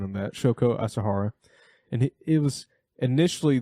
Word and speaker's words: Shoko Asahara: But it was a religious group founded in 1980s by uh Shoko Asahara. Oh yes, that's a good that's a good pronunciation on that. Shoko Asahara.